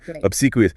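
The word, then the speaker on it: obsequious: Obsequous. Obsequous. Oh, that's a more formal one. Obsequous. Stress on the second syllable.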